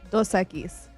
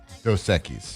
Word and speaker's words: Dos Equis: How do you say that in Spanish? Dos Equis. Dos Equis.